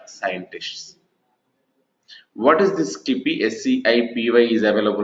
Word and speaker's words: SciPy: SCIPY is available, right? Let me go and try to write here SCIPY.